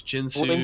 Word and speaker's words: Guinsoo: to complete the and here's another pronunciation thing guinsoo's jhinsley so what do we say I say guinsoo's rageblade so has that first item